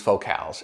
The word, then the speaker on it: Focal: So let's start with the build of these Focals, and yes, that is the correct pronunciation of what looks like the word focal.